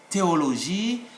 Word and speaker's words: théologie: We will simply say théologie, le thème. because H is silent.